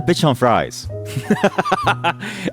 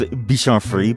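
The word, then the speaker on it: Bichon Frise: I think he's a bitch on fries. I know it's pronounced bitch on free, but my wife and I always like to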